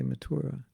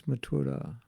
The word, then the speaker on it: Mathura: your life you say you may say mathura mathura excuse me of mathura but it's mathura once i was in